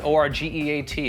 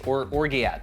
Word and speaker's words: orgeat: Next is the orgeat. It's O-R-G-E-A-T. It's orgeat, but it's pronounced orgeat.